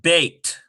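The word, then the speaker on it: בית: Number 5, we have a bet, and in this case, it goes right along with that saray. It is part of it. So we get bait, as in house or house of.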